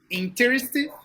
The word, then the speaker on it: interested: Interested. Interested Uh-uh. In It's because you're saying the strong syllable in the incorrect. It's interested. Interested.